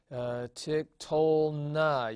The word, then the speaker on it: tiktolna: Tiktolna. You see, this na is a syllable. You have a consonant and a vowel. And so tiktolna, the accent being again with the thematic vowel.